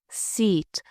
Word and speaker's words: seat: Now listen to the difference in pronunciation. T is right. Tent t is short e sit sit seat.